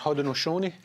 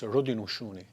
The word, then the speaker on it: Haudenosaunee: It's pronounced Haudenosaunee. Haudenosaunee. And what does that mean for our viewers? It's an Onondaga pronunciation. The way Mohawks say it's Haudenosaunee.